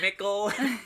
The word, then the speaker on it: Mickle: Thank you to Mickle, which rhymes with ghost pickle.